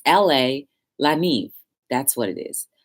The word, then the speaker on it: La Neve: Anyway, the place in Helden, New Jersey, where I went to La Nevi. Yeah. So it's basically a catering hall in North Helden, New Jersey. It's LA, La Neve. That's what it is. La Neve.